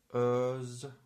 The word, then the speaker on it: Özge: And it's Ö, like in sir, or first. For example, a word like, I don't know. For example, this is a woman's name. Let's pronounce it. Özge. Özge. Özge is a name.